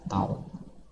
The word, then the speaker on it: tau: Tan ini biasanya simbolnya tau tau ya cara bacanya tau ya time constant RC Nah